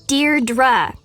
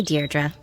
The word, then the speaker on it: Deirdre: it or something hi didi dear dra i know it's got that tricky second syllable but i figured it out by age two don't give up you'll get there sorry hi deirdre hey now someone's getting